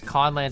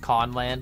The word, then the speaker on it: Conland: So it's Conland spelled with a K, but really it's just Conland, like, you know, we're conning people, you know what I mean?